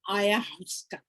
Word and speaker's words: ayahuasca: Drinking, how do we pronounce it? Ayahuasca.